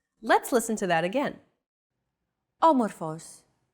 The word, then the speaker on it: Όμορφος: Όμορφος. Όμορφος. There's a golden rule in Greek concerning accents. The accent mark can only go on one of the three last syllables of a word.